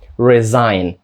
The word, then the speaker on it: resign: перше знову ж таки S звучить як Z resign друге по-перше і звучить